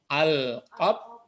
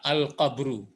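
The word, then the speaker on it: القبر: Pertama apa kira-kira membacanya nih? Al-qab. Jangan. Ya, kenapa kalimat? Nah, jadi yang perlu dipelajari tahap pertama ini kalau ingin berpariwisata abadi, kubur. Ya, al-qabru.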